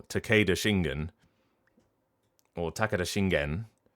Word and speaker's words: Takeda Shingen: So whether you're pronouncing it Takeda or Takeda, Takeda Shingen or Takeda Shingen or Takeda Shingen, like, just make decisions.